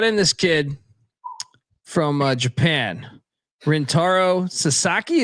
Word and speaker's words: Rintaro Sasaki: But they brought in this kid from Japan, Rintaro Sasaki. Am I pronouncing that correctly? Correct.